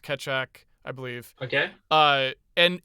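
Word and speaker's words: Keccak: ethereum even uses it it's k-e-c-c-a-k i think it's pronounced ketchup i believe okay uh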